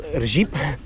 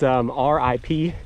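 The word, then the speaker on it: Říp: This is it's called Rip. It's spelled R-I-P with all the interesting Czech characters on it, so it's not pronounced rip, it's pronounced Rip, or something close to that.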